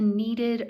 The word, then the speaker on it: kneaded: me take that off this is called a kneaded eraser k n e a d e d needed with the k in front kind of like a knife um with the how